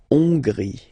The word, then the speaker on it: Hongrie: So remember, H doesn't exist, so you don't pronounce it. So it starts with O-N, on, and then gris. Final not pronounced. La Hongrie.